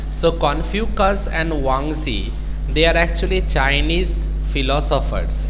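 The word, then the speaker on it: Zhuangzi: n g z i now sometimes the z is silent one z okay sometimes the pronunciation is one z so confucus and wangzi they are actually chinese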